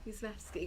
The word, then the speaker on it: Jezewski: I'm not saying it's even perfect Polish pronunciation, but I think Yezevsky is Show me the spelling. Can you Jezewski. Yezevsky. W is V. J is usually. Yeah. Yezevsky.